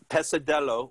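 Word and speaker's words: pesadelo: all right so passadelo pasado how do you pronounce that pesa pesadello which is nightmare in portuguese all right so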